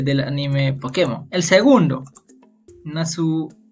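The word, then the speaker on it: ナース: Claro que Nasu es una pronunciación de Nurse, pero en japonés, ¿no?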